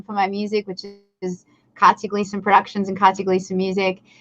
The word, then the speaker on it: Katja Glieson: like uh everything and i try to keep it simple like katie gleason even though it's spelt very uniquely as you say no